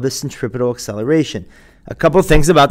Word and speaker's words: centripetal: And the term is pronounced centripetal acceleration.